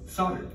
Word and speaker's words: solder: a metal alloy called solder. And by the way, yes, I'm aware that most other countries pronounce the L in the word solder.